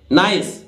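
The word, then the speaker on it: nice: नहीं पहले, ठीक है, नाइस, क्योंकि अंत की आई हुई ई उच्चारित नहीं होती है।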